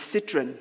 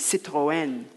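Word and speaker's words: Citroën: see the neighbor dad driving in in his Citroen as we called it apparently the correct pronunciation is Citroen and in a nearby street the dogs would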